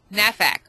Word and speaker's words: NAFAC: someone said you know why don't you call it na23 K because you can't pronounce numbers and so it never would flow so that's why it's n f haac nafac so that's cool excellent